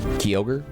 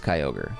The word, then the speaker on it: Kyogre: I I say that because I been incorrectly pronouncing those Pokemon for years I always call them uh gudon and kogre which I mean like I don't know like